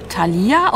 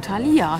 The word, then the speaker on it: Thalia: habe es richtig ausgesprochen Thalia nicht Thalia sondern Thalia habe ich richtig betont ich sag einmal irgendwas